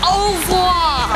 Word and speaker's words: au revoir: What is au revoir?